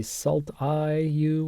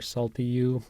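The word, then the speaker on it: SLTIU: All right, now I said that I want you to say SALT when you are pronouncing these assembly instructions, and that's because the SALT-U and the SALT and the SALT-I-U or SALT-EU and SALT-I, these are, sometimes easy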